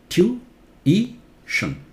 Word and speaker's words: tuition: Look, it's E louder, right? Tuition. Tuition in British. In American, tuition. Okay? Do not say tuition. Tuition is wrong. There's an I here. It's pronounced. And in fact, it's got stress, so it must be pronounced very clearly.